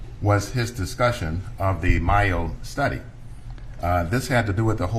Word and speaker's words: Mayo: Yeah, the Mayo study is M-A-Y-O. It's as though it should be pronounced Mayo.